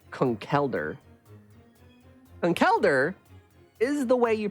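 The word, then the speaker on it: Conkeldurr: that I can do either and it's conceler con kelder is the way you pronounce it they say it in VGC tournaments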